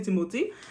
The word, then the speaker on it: Timothée: avec Mr Timothé chal ok timothi shalama timothi on va juste le prononcer timothi donc on sait pas